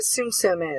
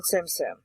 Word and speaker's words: Tsum Tsum: hmm my game same does anyone know what Tsum Tsum is it is it is spelled t-s-u-m-t-s-u-m Tsum Tsum okay yeah you go ahead and